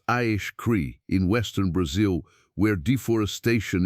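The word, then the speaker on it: Acre: And then there are the geoglyphs of Akri, pronounced Aish Cree, in western Brazil, where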